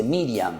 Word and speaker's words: Miriam: Ustedes saben que en hebreo, queridos chicos, se dice Miriam.